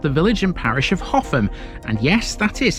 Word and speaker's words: Hougham: Rounding off the week in South Givven, we have the village and parish of Hoffam. And yes, that is how you pronounce this. It's not How and it's not Huff or Horn.